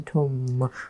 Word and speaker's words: tomb: 所以呢，这边有一个 tomb 这一个字，大家注意一下发音哦。We don't pronounce the B sound at the end. 我们是 tomb，不可以 tomb.